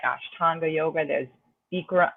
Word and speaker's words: Bikram: like ashtanga yoga there's beekra i think bikram is how you pronounce it but like bikram people like the amer americans say there's vinyasa which is a